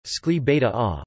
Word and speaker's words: Escalivada: Escalivada Catalan pronunciation, Escli Beta A, also sometimes transcribed in Spanish as Escalibada, is